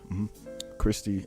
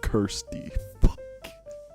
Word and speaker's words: Kirsty: pieces and uh yeah Christy and then oh damn I've been saying her name wrong the whole time bro it's it's Kirsty I'm not re